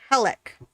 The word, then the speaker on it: Helck: the Night, Eternal 831, and Helek, which is spelled Helck.